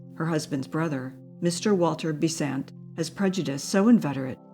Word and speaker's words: Besant: the family Connection by accenting his name on the second syllable as she accents hers on the first it is a curious